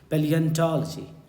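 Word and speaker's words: Palaeontology: Study of fossils, study of fossils, this is called, spelling ध्यान से, PALAENTOLOGY, पैलियंटोलॉजी, पैलियंटोलॉजी।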